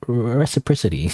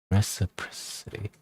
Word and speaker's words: reciprocity: I look up at him, looking for any recipricity.